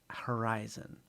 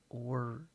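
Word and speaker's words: Orison: So the Oresen is apparently not pronounced Horizon, and the real world Oresen. So the O has a pronunciation attached to it. So Orezen, Orezen, or Oresen should be closer to what is going on here. We have an accent over the O.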